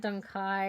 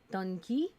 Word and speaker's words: Dunkey: mean it's not like it's not dun Kai it's D Dunkey oh I'm terrible at